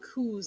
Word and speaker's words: coup: right so today we're going to talk about coups a lot so it's spelled c-u-c-o-u-p uh but it's pronounced coup and